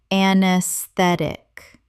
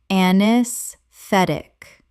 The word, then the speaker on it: anesthetic: Anesthetic. Correct pronunciation. Anesthetic. The a e at the start is silent and the stress falls on the third syllable.